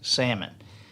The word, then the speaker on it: salmon: one how about um salmon is connect is the correct pronunciation because the l is silent it is not salmon it's salmon have you noticed how